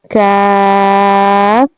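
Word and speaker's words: ك: Okay, and in pronouncing the letter Kaf, you have to touch your back of the tongue with the soft palate. Now you have to repeat after me. Kaf, Kaf, Kaf.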